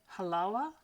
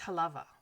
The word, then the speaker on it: Halawa: think in Hawaiian it's Halawa. Halawa? One of those pronunciations, I'm not sure which. The W is pronounced as a V, although this is also